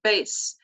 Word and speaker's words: bass: instrument in an orchestra in this sentence bass rhymes with case now this is a